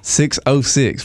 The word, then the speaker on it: 6OH6: there's no o in numbers wow 606 i never thought about it yeah exactly so that's kind of where we were like okay we're gonna spell it how we say it because that zero is a zero it's not a oh so 606 so yeah